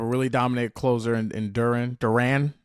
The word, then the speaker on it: Duran: Duran is actually how you pronounce his name.